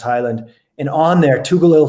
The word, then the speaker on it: Heyland: highland h-e-y-l-a-n-d um it looks but it's pronounced highland and on there two gil things outgrow helped